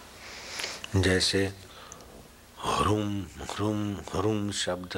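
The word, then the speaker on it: ह्रीं: हरिम हरिम हरिम हरिम हा करके नीचे रेफ और ऊपर बिंदी और दीर्घ हरिम हरिम हरिम जप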